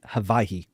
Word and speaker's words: Hawaii: out before you go, is Hawaii. That's how it's pronounced there. Yeah, the W's are a V.